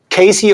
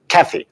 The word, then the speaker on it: Kathy: So we have Casey, or Haley, you said I pronounced it wrong. So it's... I said Kathy. Kathy. Okay, Kathy. So we have Kathy, a very German name.